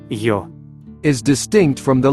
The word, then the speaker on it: ё: The letter Йо. is distinct from the letter Є. in its pronunciation. From a pronunciation standpoint, the letter Йо. represents a combination of the sounds Є. О. Є. О. Йо.